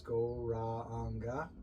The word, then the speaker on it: Gauranga: If it's your first time here, it's 4 syllables, Gauranga, the length of the breath, and means he whose body is more beautiful than molten gold.